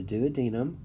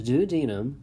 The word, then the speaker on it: duodenum: to the small intestine there's the duodenum also pronounces the duodenum either way but most commonly is the duodenum then we have the